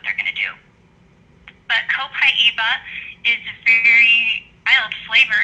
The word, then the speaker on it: copaiba: Okay, this is pronounced Copaiba in Brazil.